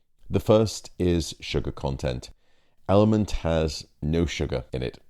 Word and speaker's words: LMNT: Now it's actually spelt with 4 letters, LMNT, Element.